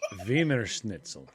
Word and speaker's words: Wiener Schnitzel: the word wiener schnitzel it's vimer schnitzel and what it is is is it's a breaded cutlet what is pronounce your v's with like why why are your w's pronounced as v's and these are pronounced like w's people got it backwards venus it's a wiener